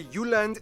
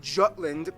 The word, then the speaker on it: Jylland: I'm going to pronounce the location names in their proper Danish context. So here we go. Denmark is made of the Jylland, not Jutland, peninsula that connects to Germany